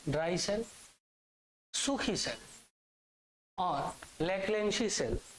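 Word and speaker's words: Leclanché: cell सूखी cell और local cell एक सेकंड इसकी स्पेलिंग देख के बताए भा एली सी एच एल ए एन सी H local cell ठीक बे क्योंकि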